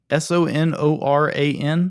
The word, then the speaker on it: Sonoran: so this is all right how do you pronounce that the Sunrun dog s-o-n-o-r-a-n Sonoran the Sonoran dog is a hot dog